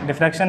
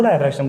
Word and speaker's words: diffraction: क्या है डायफ्रैक्शन, डिफ्रैक्शन जिसको हम बोलते हैं, बहुत सारे लोग डिफ्रैक्शन बोलते हैं, डिफ्रैक्शन ही प्रोनाउंसिएशन इसका राइट है, और कुछ लोग इसको डायफ्रैक्शन बोलते हैं, तो मैं इसको डिफ्रैक्शन ही बोलूँगा।